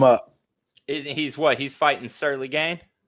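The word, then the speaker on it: Ciryl: He's fighting Surly Gain? Yeah, Cyril. That's how you say it.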